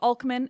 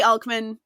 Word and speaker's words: Alcman: The Sparta of Alcman is a lovely, song and dance-filled Sparta.